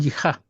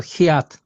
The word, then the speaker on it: jihad: Rechazamos que el Dios verdadero permite el el ji y no sé si no escuchado el jihad hiat sei las personas hablan, pero hiat es la pronunciación más exacta.